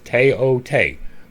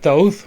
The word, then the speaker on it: Thoth: The TH is T to them. It is in here twice. The O is long. It is Teote. There are people that call it Thoth, but that is an Anglicization. That is English.